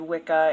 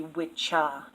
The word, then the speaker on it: Wicca: on witchcraft in Wicca I actually said Wicca and wiki and it's actually wit cha and with Chi WI CAW IC e